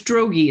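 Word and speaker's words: Droege: not on here it's it's drogy it's d-r-o-e-g-e rhymes with pierogi okay yeah i kind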